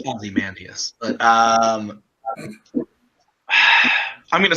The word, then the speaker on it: Ozymandias: All right, your options are A, Rorschach, B, Scarecrow, C, V, or D, Ozymandias.